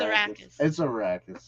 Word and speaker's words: Arrakis: It's Arrakis. It's a racket. A racket. There you go. Arrakis.